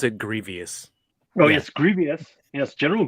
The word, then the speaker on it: Grievous: I believe you pronounce it Grievous.